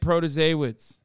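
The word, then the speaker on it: Protasiewicz: Court protein I'm judge Janet proto-sawas Janet protozawitz from Wisconsin okay can we stop with this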